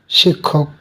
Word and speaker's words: শিক্ষক: 2 নম্বর নিয়ম, যুক্তক্ষ যদি কোনো শব্দের বানানে মধ্যে অথবা শেষে বসে, তাহলে উচ্চারণে ক খ একসঙ্গে হবে, যুক্তাক্ষর পরিবর্তে ক খ হবে। যেমন শিক্ষক, যুক্তাক্ষ মধ্যে, শব্দের মধ্যে, তাহলে মধ্যে থাকলে এই